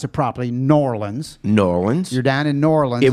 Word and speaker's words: New Orleans: around America and you were down in now pronounce it properly norleans Norwin Sudan in norlin it was the mardi